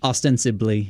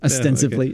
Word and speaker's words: ostensibly: loses the 2020 election I don't know what that means it just sounded like the right word of the time ostensibly yeah yeah didn't say it right ostensively there you go okay uh so he